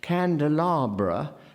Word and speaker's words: candelabra: feeling that something is strongly pronounced candelabra not candelabra which is what the spelling would ordinarily suggest to you so that again and